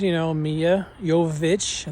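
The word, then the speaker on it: Milla Jovovich: And they had all the returning characters, Mia Jovovich, that's how you say her name, Ali Larter, Sean Roberts.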